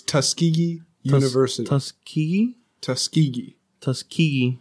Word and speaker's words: Tuskegee: no the older correct or the normal its Tuskegee University us key Tuskegee tusky yes oh my